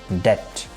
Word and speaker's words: debt: Another word in this list is debt, which is oftenly mispronounced like debt. Here B is not going to pronounce, you will have to pronounce the word is debt.